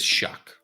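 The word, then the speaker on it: Shough: And literally now I see a YouTube clip where he's in the video and he tells how to say it and it is shock. It's shock. Shuck.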